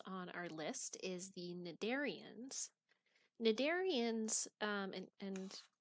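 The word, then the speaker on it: Cnidarians: our list is the nedarians nadarians um and the way that this term is pronounced is with a silent c you don't say canadarians you say nedarians uh so nadarians are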